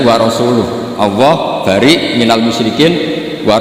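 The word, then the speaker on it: وَرَسُولُهُ: Allah itu terbebas, nggak urusan dengan orang musyrik, wa rasulih juga nggak ngurus Rasulnya. Kalau sama Rasul saja tidak ngurus, apalagi sama kita. Terus sama Sayyidina Ali dibenarkan, yang benar bacanya itu wa rasuluh.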